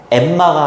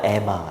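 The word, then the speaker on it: Emma: 우리나라 사람들은 안나 그지 근데 이렇게 뭔가 이렇게 자음이 두 개가 있으면 보통 하나로 발음해야 되는게 맞거든 서머가 아니라 서머 엠마가 아니라 에마 이렇게 발음해야 되는게 원래는 맞거든요. 안나 이거는 완전히 콩글리시 에나 발레라 발레라 아 그래요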